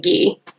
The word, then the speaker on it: ghee: It's like, how do you say it? Ghee? I think you pronounce it ghee.